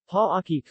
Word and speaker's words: Parañaque: Parañaque, officially the city of Parañaque, Tagalog, Lungsod ng Parañaque, Tagalog pronunciation, Pa-aki, or simply known as Parañaque City, is a first-class highly urbanized city in Metro Manila, Philippines.